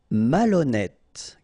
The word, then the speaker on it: malhonnête: Malhonnête. Okay, remember H doesn't exist, so malhonnête. Don't insist on the final E. Malhonnête. And here you get E accent circonflexe, so you pronounce it like E.